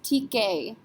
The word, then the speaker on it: ticket: It's not a C, R, F, or L. In fact, ET is a letter combination. We pronounce this ticket.